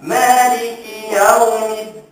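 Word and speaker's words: مَالِكِ يَوْمِ الدِّينِ: Yang kena bacanya ialah Malikiya. Malikiya kan huruf ya kan? Ya kekalkan bunyi ya bukan ya ya. Maliki ya dah jadi ya tu. Ah maliki yaumiddin.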